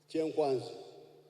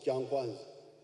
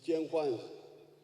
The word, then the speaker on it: Kyenkwanzi: When you hear this, kyenkwanzi, which the Waganda mispronounced as kyankwanzi, it is kyenkwanzi.